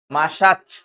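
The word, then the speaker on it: Masaccio: এই চিত্রটি অংকন করেছেন চিত্রশিল্পী মাসাচ মাসাচ এরকম উচ্চারণটা হবে ঠিক আছে ভার্জিন এন্ড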